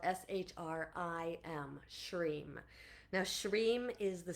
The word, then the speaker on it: Shrim: So it's sometimes it's spelled shr sometimes it's spelled shr i m.